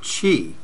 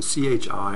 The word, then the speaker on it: qi: the concept of of chi uh also uh sometimes pronounced also written Qi so Chi or Qi and uh chi refers